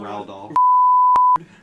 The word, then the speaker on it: Roald Dahl: Roald Dahl.